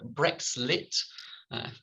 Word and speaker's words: BrexLit: his research project was funded by the arts humanities research council his second monograph is entitled brexlit that's how you pronounce it uh british literature and the european